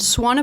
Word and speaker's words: Swan: instead of an m and Swan pool that's like swans on a pool okay thank you very